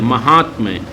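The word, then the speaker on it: माहात्म्य: महात्म्य, ये आपका सही शब्द हो जाएगा। माँ, हाँ, अधत्ता, अधमा, ये महात्म्य, तो ये आपका सही उच्चारण है और सही शब्द हो जाएगा महात्म्य।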